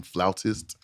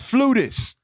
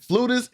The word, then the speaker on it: flautist: It's not flutist. Okay, it's pronounced flautist. I think on my first 2 interviews, I might have said flutist. and just and flutist isn't necessarily wrong because I know the